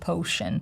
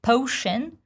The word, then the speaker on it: potion: But in case if you're wondering, the most important part in the word potion, it's O diphthong. So it's not potion. Some people lazily say potion. It's potion, potion, O. Same as an ocean, potion.